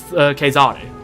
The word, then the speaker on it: Caesar: I just used a Latin pronunciation because his name is supposed to be pronounced Caesare, but then like the French happened, and now the English and the French call it the guy Caesar, or the French is César, but like, yeah.